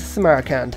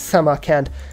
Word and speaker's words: Samarkand: Armani, get into Samarkand. I think I'm adding a syllable to that, and it's Samarkand.